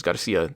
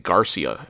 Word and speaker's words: Garcia: Like instead of Garcia, the guy's name is Garcia, they kept saying Garcia.